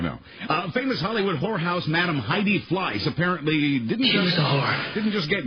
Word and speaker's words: Heidi: I don't pronounce the H. Heidi.